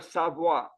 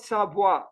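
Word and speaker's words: Savoye: The correct pronunciation is Villa Savoy with a, so it is Savoy, not Savoie, Savoy. There is a touch of I at the end.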